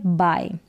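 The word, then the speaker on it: buy: लाना और यह है बाय यहां पर देखि इसको पढ़ेंगे बी यू वाई को इसको भी बाय पढ़ेंगे और बी आई इसको भी बाय पढ़ेंगे दोनों का उच्चारण सेम है इस बाय का मतलब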